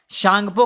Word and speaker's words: Tsangpo: हैं, चाइना में इसको शांगपो कह के बुलाते हैं। टी साइलेंट रहता है, TSANGPO, शांगपो कह के इसको बुलाते हैं, ठीक है, चाइना में।